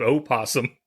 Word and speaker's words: opossum: know that it's spelled opossum I don't think you're allowed to have a silent vow at the beginning of a word this is America somebody